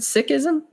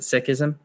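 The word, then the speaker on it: Sikhism: me more about um he pronounced it sism he pronounces it that way I've heard it pronounced sism I'll let him decide he's the expert so I'll go ahead and pronounce it sism as thou deems thyself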